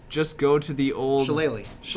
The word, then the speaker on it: Shillelagh: Shillelagh. I never knew how that was spelled. Yeah. A lot of Irish words are like that. Where they're just like not even close to how they're pronounced.